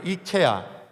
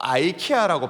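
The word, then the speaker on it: IKEA: 이걸 발음을 어떻게 하냐 좀 다른데 이케아, 또 아이케아라고 발음하기도 합니다.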